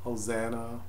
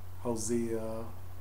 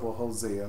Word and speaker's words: Hosea: book of a we many people pronounce it hosan Hosea oh how you pronounce